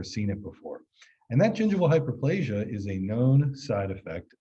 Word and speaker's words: gingival hyperplasia: do not say it wrong no problem it's gingival hyperplasia and so the photo is of someone's teeth